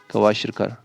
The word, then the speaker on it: Kwashiorkor: अब देखिए 2 डिजीज आपको याद रखनी है, एक है, स्पेलिंग मैं भूल गया हूँ इसके, KWASHIORKOR, ये चेक करिएगा, क्वाशिरकर, and another is marasmus, marasmus, ठीक है।